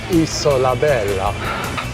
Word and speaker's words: Isola Bella: Isola Bella.